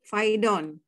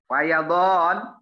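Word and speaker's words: فيضان: Ulama nazala mator goziron faqa faidon. Fayadon. Ibu Sinta, fayadon. Fayadon. Oh, fayadon. Banjir. Fayadon. Fayadon. Iya, begitu bacanya.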